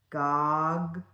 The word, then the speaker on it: goggle: one to identify because you have these two G's in here. So you're going to break your syllable right there. Goggle, okay? And you only have one O and it's saying that normal ah sound. So it's pretty straightforward.